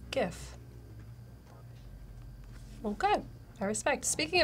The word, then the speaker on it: GIF: G first for sure gif hard good French design innovation says guys believe sounds like goofy steve says the first word in the name is graphic so hard G gif well good I respect